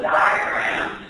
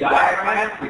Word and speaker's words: diaphragm: So the diaphragm, as spelled here, diaphragm, which is true, that's spelled D silent, okay?